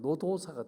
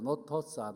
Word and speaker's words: 노도사: 그러면서 그는 성경 복음서를 읽으면서 너무너무 은혜를 받아가지고 별명이 뭐가 되었느냐 하면 노도사가 되었습니다. 노도사. 외국 사람들은 노도사 발음이 안 돼요. 노토사, 노토사 이렇게 발음했다고 그랬는데 이분은 세례와 생명을 바꾸어가면서 세례받은 사람이기도 합니다.